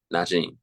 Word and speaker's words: Najeem: Najeem.